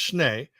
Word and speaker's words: Schnee: Number one, just in case anybody is curious, my last name is Schnee. Well, it's actually pronounced Schnee, and that's German for snow.